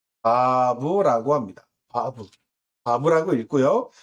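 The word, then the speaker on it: ו: 영어에서는 V 또는 W라고 발음이 되기도 합니다만 어쨌든 비읍, 바브 또는 일부는 이제 와우 이응이죠. 와우, W의 음가를 갖기도, 그렇게 읽기도 합니다.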